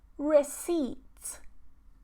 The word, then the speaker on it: receipt: Silent P. Receipt, receipt, receipt.